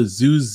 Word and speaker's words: Zooz: Zoozy, is that how you pronounce it? Zooz.